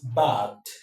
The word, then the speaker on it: bagged: Now, because ga is a voiced velaric plosive, because it is voiced, then the ed marker becomes the, the. So the right pronunciation of this word is bagged. He bagged an award. He bagged his first degree from Harvard.